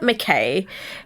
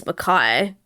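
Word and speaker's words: Mackay: and over called it mckay it didn't i didn't even know i've never even heard of it i know that it's makai i just because it's spelt m-a-c-k-a-y so yeah in my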